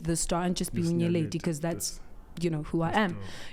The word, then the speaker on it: Nyeleti: The worst they could make my name sound is Nyella D, but it still sounds like my name.